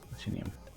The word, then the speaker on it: platinum: Lizard, so the word platinum accent goes in the first syllable. Platinum. What? The word platinum. The accent goes in the first syllable. Platinum, like that.